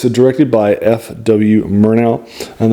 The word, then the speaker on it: Murnau: Murnau, and that's M-U-R like murder, so I think it's pronounced Murnau.